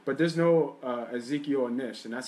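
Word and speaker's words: Ezekiel Ansah: But there's no Ezekiel Nish, and that's how you say his name.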